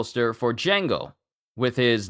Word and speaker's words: Django: name is spelled he's it's you say it Django and his uh his name is spelled Django there's actually wait a minute but